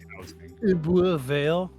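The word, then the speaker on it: Ebbw Vale: So it's Ebervale.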